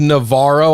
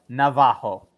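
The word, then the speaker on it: Navarro: uh pronunciation here uh I I was went with Navaro I think most people do that is not the correct pronunciation as to your uh Rafael Navajo okay yes instead of that's in Brazilian Portuguese actually funny little tidbit here Bob ra actually goes ha as opposed to Raw so um Navajo accidentally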